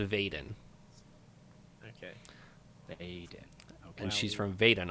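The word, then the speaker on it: Veden: why Eliot one for vet and but it's pronounced Bayden okay and she's from Vaden are so yep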